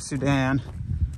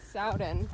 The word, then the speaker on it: Soudan: Soudan. I think that's how you pronounce it. Oh, not South Sudan? No, it's S-O-U-D-A-N, so I would call that Soudan.